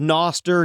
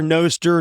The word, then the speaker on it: Nostr: Noster is decentralized so there's no correct way to say it I've heard Noster noer Nostra like whatever you want whatever you want it's